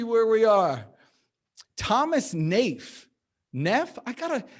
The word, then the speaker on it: Neff: neff i got a is it just neff if it's just neff why are there two e's and two fs how do you pronounce that name is it neef is it niche i'm asking how do you do it oh it's no it's neve okay i love that